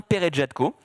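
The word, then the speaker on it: Peretjatko: d'un réalisateur qui s'appelle Antonin Perejatko, comme ça se prononce, qui a fait 3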